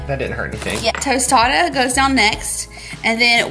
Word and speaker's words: tostada: then we'll add our tostita. Is that how you say it? Tostita? I don't even know what it's called now. Tostada. Tostada, okay.